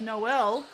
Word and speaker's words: Newell: Newell is actually pronounced Noel.